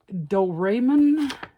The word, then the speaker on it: Doraemon: think it's just interesting looking so it is do ramman I believe is how it's pronounced and it is a earless robot cat